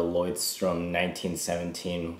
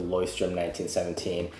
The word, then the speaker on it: Leuchtturm 1917: I would say it even folds better than the Leuchtturm 1917 one I have right here.